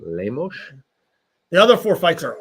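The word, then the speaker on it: Lemos: a five vers seven Amanda lamos you gotta say it like that too lamos the other four fights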